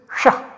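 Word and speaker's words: ṣaḥ: This sound, this is to be pronounced as sh, and not to be confused with sh or s. Sh or s. This is not that. This is sh, sh, shah pratyayasya.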